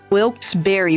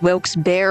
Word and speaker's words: Wilkes-Barre: So I just searched it up, and it's pronounced Wilkes-Barre by locals, but it's also pronounced Wilkes-Barre or Wilkes-Barre.